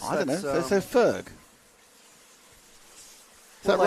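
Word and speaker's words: Förg: Forg is pronounced like birth. Ferg. No. And is that There's no O in birth. No. Is that Anastasia? Anastasia. So Ferg. Ferg. Well, it's an O umlaut, but I guess I don't know.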